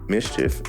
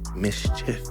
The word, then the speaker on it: Mischif: Mischief, it's MISCHIF, no E, Mischief, say it right.